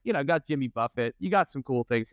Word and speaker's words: Buffett: speaking of Jimmy Buffet it took me a while to realize that it's Buffett and not Buffet like well into high school I mean it is spelled buffet and it is it is wildly confusing and he's also like